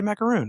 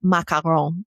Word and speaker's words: macaron: We always say macaroon, right? Yeah. And it hurts my heart a little bit. And we mean the little French Oreo thing. You do. Macaron.